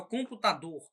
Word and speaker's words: computador: Por exemplo, a palavra computador. A palavra computador tem a sílaba tônica tá e a sílaba átona, que é com, né? Computador. A elevação por períodos, ela